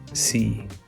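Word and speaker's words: sì: and then try again see is pronounced short and has an accent over the ice so it makes it shorter so you see not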